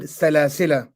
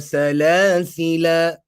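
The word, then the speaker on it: سلاسلا: Okay, some pronounce it with a mad for the duration of two vowels, whilst others pronounce it with a sakoon. So some would recite it as Inna a'tadna lil kafirina salasila salasila. Some would recite it as Inna a'tadna lil kafirina salasil with the sakoon.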